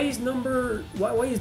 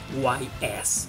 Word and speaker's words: Ys: So let's finish this list with the number one, that is IS7. Yep, guys, this is not pronounced YS or Jess or whatever. It is pronounced IS.